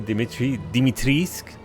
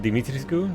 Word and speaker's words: Dimitrescu: Since we have Lady Dimitriscu instead of Dimitrescu, like, Romanians have been saying.